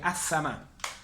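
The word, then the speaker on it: السماء: perdón cielo es ama el cielo sería a sama la l el artículo no se pronuncia en síntesis existen dos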